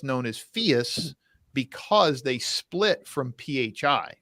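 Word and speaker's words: Phius: say Fiat like the car no no no Fierce it's spelled p-h-i-u-s it used to be oh okay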